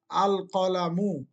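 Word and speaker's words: الْقَلَمُ: আল কলামু। এখানে লামটাকে কি করে পড়তে হইতাছে? স্পষ্ট করে পড়তে।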